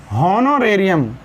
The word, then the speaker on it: Honorarium: Honorarium. हाँ, हॉनोरेरियम, इसकी pronunciation ढंग से पढ़ो, हॉनोरेरियम।